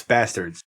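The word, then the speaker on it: Basterds: Do you say bastards or bastards? It's bastards. It is bastards. It's spelled different.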